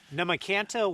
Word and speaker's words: Nahmakanta: how do you say the name of where we're at spurs namakanta west beach thank you so very very much